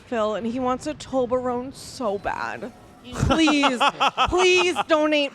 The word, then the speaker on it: Toblerone: Toblerone? No, it's Toblerone. I don't know how to pronounce it.